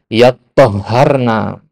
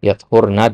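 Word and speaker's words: يَطَّهَّرْنَ: Nah, adapun Hamzah dan Kisai membacanya dengan yattahharna. Yattahharna, bedakan ya. Yathurna dengan yattahharna. Ya, yathurna, ya, yattahharna. Ditasdid di dua huruf to dan ha-nya.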